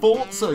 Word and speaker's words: Forza: It's actually pronounced Forza, you uncouth moron.